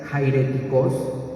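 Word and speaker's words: αἱρετικός: es una palabra griega la palabra griega es jairéticos así se pronuncia el eje griego Jayden significa aquel que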